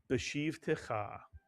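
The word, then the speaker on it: בְּשִׁבְתְּךָ: If you said beshiv, you are correct. Beshiv. The b does not stand alone. It would have no vowel. Every syllable must have a vowel. So you add the shiv to the preceding bet with a pronounced shva. And the first syllable is beshiv. And the second syllable is techa, mitsuyan. Put the word together. Beshiv techa.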